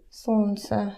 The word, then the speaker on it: солнце: Солнце. It's sun. Actually, I chose such a bad word because this is another consonant that we don't pronounce. Actually, it sounds more like солнце.